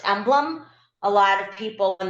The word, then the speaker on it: MBLM: slide we do to let people know it's pronounced emblem a lot of people when they don't know us um will spell out the name and say can I speak to someone from mblm so that is something to think about when